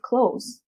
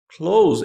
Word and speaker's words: clothes: her mom likes expensive clothes so her mom likes expensive clothes and you pronounce it perfectly it's not clothes it's clothes just like the verb close fish chart all right